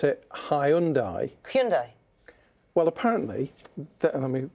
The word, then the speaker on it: Hyundai: I always pronounce it Hyundai Hyundai well apparently let me read it everyone says it's Hyundai but it's not it's Hyundai Hyundai Hyundai but there's